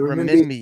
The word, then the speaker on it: renminbi: The renminbi, Renminbi.